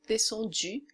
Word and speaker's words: descendu: Então é U, descendu.